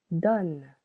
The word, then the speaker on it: donne: Here, donne, only 1 syllable. Letter O needs to change its sounds to O because of the double consonant.